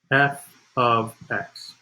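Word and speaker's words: f(x): And the way you pronounce this is it's pronounced f of x. It's not f parentheses x, not f times x. It's f of x.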